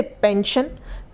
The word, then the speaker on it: pension: उसी तरीके से पेंशन, पेंशन में भी एस के बाद ION है, तो यहाँ पर भी आई को जो उच्चारण हम करेंगे आई का वो अ करेंगे।